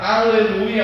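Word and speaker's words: הללויה: A palavra aleluia é uma palavra de origem hebraica que não se traduz para língua nenhuma. Em todo lugar a gente vai ouvir aleluia, às vezes com pronúncia diferente.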